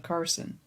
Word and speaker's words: Carson: my name is carson it's not pronounced like the plural of cars the vehicle it's pronounced like you're just cutting off the the on part of carson so cars yeah got